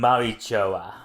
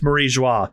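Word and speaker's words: Mariejois: it shame sacred land Maroa okay so the the pronunciation of this um Place trips up a lot of people not just you it's marija you were very close Mara in fact they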